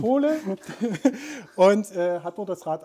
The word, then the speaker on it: Pole: Und Torben war tatsächlich bei Pole, das klingt immer so wie der polnische Bürger. Tatsächlich genau so wird es ausgesprochen. Pole.